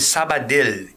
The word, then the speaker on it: Sabadell: Se escreve Sabadell.